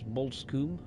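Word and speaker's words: Bosham: The next station stop is Bolskum.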